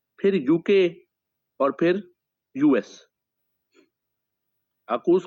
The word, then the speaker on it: AUKUS: अकूस को आप लिखेंगे ना तो आप देखें ये किस तरह बनता है। AUKUS, अकूस की स्पेलिंग है AUKUS। सो AU for Australia, UK, then UK and then US. इसे अकूस कहा जाता है।